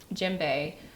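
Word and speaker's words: djembe: The Jimbe.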